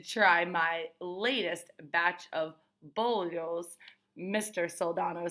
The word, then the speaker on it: bollos: Soldano makes the best bollos on Ash Street, Kermit tells me. He pronounces it boy-os.